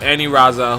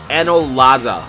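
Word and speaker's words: Anilaza: with a rival of any Raza whose name is actually pronounced and no Laza but right away guys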